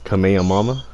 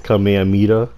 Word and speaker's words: Kamehameha: Pronounced as Kamehamama. Kamehamama. And there's other players that say it's Kamehameha.